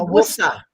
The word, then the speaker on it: Worcester: But I'm more into the Worcester County. Worcester. Yeah. Worcester. You gotta say it right, I know how to say it. Worcester. It's Worcester.